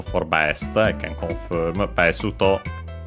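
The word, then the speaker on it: ベスト: Besuto, accent on the first syllable.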